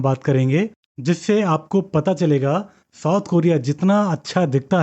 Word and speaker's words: Choi: उसका सरनेम था था सी एच ओ आई जिसको प्रोनाउंस करते हैं चे वो उल्सन सिटी साउथ